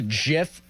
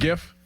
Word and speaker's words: GIF: I thought it was a GIF. I thought it was soft G. Oh. That was Here we go. Doran is correct. He said, here we The go. G stands for graphic.